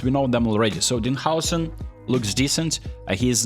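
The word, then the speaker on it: Dean Huijsen: Well, let's start with the free ones, because you're gonna be receiving a free pack of Dean Howson, by the way, that's how you pronounce his name, Kevin De Bruyne, and Marcus Rashford.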